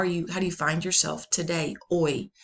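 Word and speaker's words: hoy: Oi. The H is silent. Oi.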